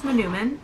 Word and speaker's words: Manoomin: I looked up how to pronounce Manoomin. It is an Ojibwe word for like a wild rice.